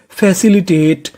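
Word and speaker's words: facilitate: FA इसे पढ़ेंगे फै, CIC फैसी, LI ली, फैसी ली, TATE इसे पढ़ेंगे टेट, क्योंकि ई का उच्चारण करना नहीं। तो मीनिंग बनी फैसिलिटेट।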